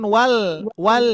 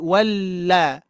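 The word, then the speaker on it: وَالَّذِي: Bukan wal tapi walla walla tapi tetap ya dalam keadaan wal la gitu ya tipis ya.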